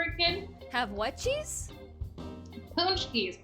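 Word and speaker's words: paczki: when you were a kid have what cheese punch keys p a c zk eyes polish jelly no no no okay so it was a thing that i have often growing up yeah but it's pronounced punch k spelled p-a-c-z-k-i right yeah i'm going to spell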